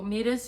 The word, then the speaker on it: Moires: I decided to call it Moires, which is written in a very weird way, I know. But that's how it's pronounced.